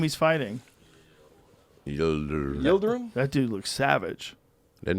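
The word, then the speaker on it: Yıldırım: It's Yildirim.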